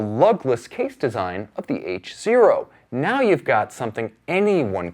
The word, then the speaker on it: H0: Okay, up next, the HYT H0. And yes, get your mind out of the gutter, it is pronounced H0.